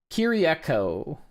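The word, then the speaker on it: Kiriakou: Kiriako. Okay. At least that's how Wiki says to pronounce it.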